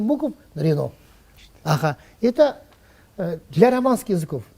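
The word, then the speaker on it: Renault: Рено пишется 7 букв Рено.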